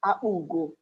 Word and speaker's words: Apugo: I'm from Apugo, not, I don't know what you call it, but it is pronounced Apugo.